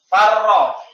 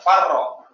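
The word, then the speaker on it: فرّ: Asalnya faroro. Faroro. Sama. Ada dua huruf yang sama. Ro dan ro. Kemudian keduanya sama-sama berharokat. Maka huruf yang pertama itu harus disukun. Baru di idgham, digabung ro-nya. Farro.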